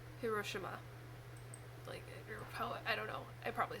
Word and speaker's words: Hiroshima: it right so but apparently there is no emphasized syllable if you're pronouncing it correctly so it's Hiroshima I don't know I